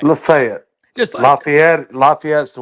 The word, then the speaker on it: Lafayette: How do How do you pronounce it down there, y'all? Locals. Lefayet. Lefayet. Okay. All right. Lefayet.